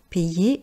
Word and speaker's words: payer: Pour la prononciation de payer, à chaque fois que vous avez une voyelle et ensuite la lettre Y, je sais que ce n'est pas évident à prononcer. Imaginez qu'il y a de I, donc pay.